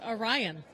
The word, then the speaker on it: Arion: Third behind them is number 3, ARION, out of Saratoga Springs, New York, Ashley Johnson and Morgan Hummel. So it is pronounced Orion.